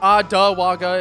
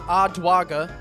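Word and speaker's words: Odwaga: It's not Ottawaga. It's Ottawaga. O-D-W-A-G-A.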